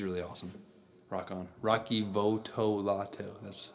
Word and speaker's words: Votolato: right now he's really awesome rock on rocky Votolato that's how you say it piece wrong one